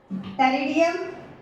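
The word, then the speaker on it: Pteridium: terrace और रेडियम टेरियम यहां P silent होता है रेडियम इसको हम बोलेंगे और डायो एस ये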